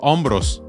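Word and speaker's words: hombros: suggestion I love shoulders so you can record ombros that's how you say it in Spanish rosos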